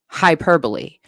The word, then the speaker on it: hyperbole: Yeah, it's actually not pronounced. hyperbole solely. It's pronounced hyperbol or hyperbole.